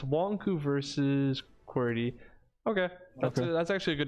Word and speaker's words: QWERTY: wrong, and I'm gonna continue said to it pronounce was- wrong. Like Querity? Yeah, Querity? it's supposed to be QWERTY, but I It's- pronounced it oh, wrong.